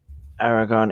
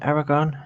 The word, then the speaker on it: Aragorn: okay so because like the aragon is uh is it aragorn yeah that's how that's pronounced um he um not